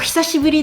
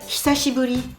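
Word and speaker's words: 久しぶり: Oh, hisashiburi desu ne. Donc là, c'est une phrase complète. Le mot important, c'est hisashiburi. Hisashiburi. Donc souvenez-vous les voyelles qu'on ne prononce pas.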